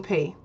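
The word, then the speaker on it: Piye: Number 2, one of the most famous leaders of Kush was King P. That's spelled P-I-Y-E, King P, who conquered Egypt and became the Pharaoh of Egypt.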